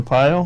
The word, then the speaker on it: Arpaio: It's like guys like Joe Arpaio. Is that right? Is that how you pronounce it? Joe Arpaio.